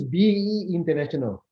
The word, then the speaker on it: BE International: Lee, as I see your background now, and you were pronouncing the name of the company. Is it BE International or B International? It's BE International.